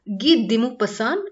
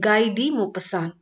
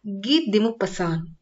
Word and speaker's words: Guy de Maupassant: should be pronounced as ghee dimu pasan it's a french name it should not be pronounced as gai di mopassan it should be pronounced as git dimu pasan let's go into the